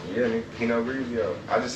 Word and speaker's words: Pinot Grigio: Pinot Grigio? Yeah, nigga, Pinot Grigio.